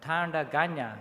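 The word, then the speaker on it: Tandanya: tagana people and surrounding tribes been known as tanda ganya can you pronounce that one tanda ganya and tanda is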